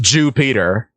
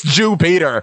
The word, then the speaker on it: Jupiter: And yes, it is pronounced Jupiter. People were mocking me in the comments. It is Jupiter.